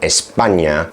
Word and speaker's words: España: For example, there's the letter "ñ" that you see in the word "España," which is pronounced "nyah" and only exists in Spanish.